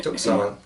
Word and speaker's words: Tucson: Also, here in San Diego, the people, the Yaquis from Tucson is the way we pronounce it, Tucson, were here to do a gig at the Museum of Man.